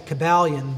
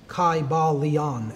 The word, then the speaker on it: Kybalion: y sounds you know it would have been a long I sound Kai Bal Leon and every syllable would